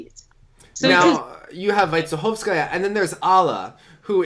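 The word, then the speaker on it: Вайцеховская: Vaitsekhovskaya, right? That's how we pronounce it?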